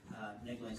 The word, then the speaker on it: Negline: Negline's fine, but it's actually Negline.